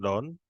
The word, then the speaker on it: Donne: This is from John Donne, or John, you can pronounce as Donny also. We will pronounce it as John Donne.